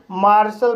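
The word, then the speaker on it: martial: होता है आंश का मार्शल इस वर्ड में एम को मा पढ़ेंगे ए को आ पढ़ेंगे आर को रा पढ़ेंगे टी को श पढ़ेंगे आई ए साइलेंट रहेगा एल को ला पढ़ेंगे इस तरह से से मार्शल पढा जाएगा और मार्शल मींस होता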